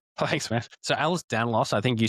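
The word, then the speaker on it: Ehlers-Danlos: So Alice Danlauss I think you said it right.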